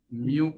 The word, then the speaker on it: mu: Greek alphabet है म्यू, मतलब MU तो प्रोनाउंस करने के लिए म्यू, this is a Greek alphabet.